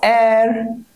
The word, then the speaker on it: heir: Mostly when H is silent. જેમ કે an honest man, an heir, an R, an honor to me.